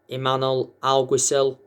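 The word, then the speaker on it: Imanol Alguacil: 15 la liga uh their current manager is emmanuel algosil finally pronounced his name correctly some will pronounce it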